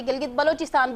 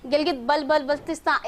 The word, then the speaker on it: गिलगित बल्तिस्तान: बहुत से लोगों को यहाँ पर इवन सही से प्रोनाउंसिएशन भी नहीं आती, गिलगित बलोचिस्तान बोल देते हैं, गिलगित बल्तिस्तान, इस तरह से भी जो है ना वो बोले जाते हैं यहाँ पर।